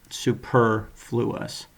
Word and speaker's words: superfluous: And remember, in this one, the stress is on the second one, superfluous, not not superfluous.